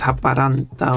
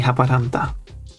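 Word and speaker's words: Haaparanta: Well, in Finnish is Haparanta or something. Haparante. I don't know. I don't know how they say it locally. I would say Haparanda.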